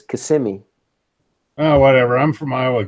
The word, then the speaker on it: Kissimmee: Yeah, but it's not pronounced Kissimmee. It's Kissimmee.